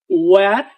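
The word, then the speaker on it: where: হয়ার এবং হয়েন এটা হয়ার এবং হয়েন না এটা হবে ওয়ার এবং ওয়েন ও দিয়ে উচ্চারিত হবে ও কারণ হচ্ছে ইংলিশে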